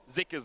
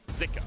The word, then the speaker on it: Zika: and it was pronounced zuka on the LPL English broadcast but we have seen some people saying that in Chinese it's actually pronounced more with an i zika so I think for